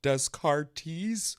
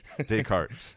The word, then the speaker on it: Descartes: really powerful episode so it's not pronounced Descartes or Descartes yeah Descartes the way I read